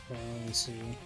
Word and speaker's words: tiramisu: How do you pronounce tiramisu? Tiramisu. Interesting. It is a rest sound, not a raw sound.